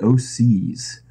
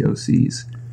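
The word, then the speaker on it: OHSEES: to this bands the o'seas and they've got this record called carrion crawler that's really cool and it spelled like like o H s EE Oscar yes yeah the OCS what kind of music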